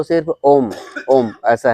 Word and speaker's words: ओम: ओम का उच्चारण करेंगे तीन हिस्सों में बांटते हैं अ उ और म वास्तव में ओंकार त्र मात्रिक है अ उ म तो मूल रूप से ओम का उच्चारण करते हैं तो सिर्फ ओम ओम ऐसा है लेकिन